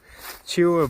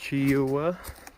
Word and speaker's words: Cheoah: Coming up on Cheoh Bald. I think that's how it's pronounced, Cheoah.